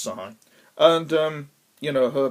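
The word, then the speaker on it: Shahi: played by uh sarah sahai i think it's pronounced psy and um you know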